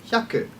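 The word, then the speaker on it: 百: learing our numbers let's learn 100 which is yaku now that you've learned 1 to 10 and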